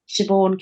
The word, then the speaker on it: Siobhan: to find me and it's just my name Siobhan So siobh Silent b h a n